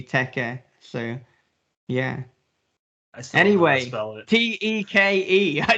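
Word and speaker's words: Teke: i can see if if you're pronouncing it in english you're probably gonna think teak but you know phonetically and with the hiragana in japanese it would be teca so yeah anyway t-e-k-e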